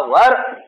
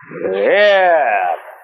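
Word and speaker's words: were: इसका उच्चारण करते हैं वेर वेर नहीं इसका उच्चारण है वर दोनों का मतलब हो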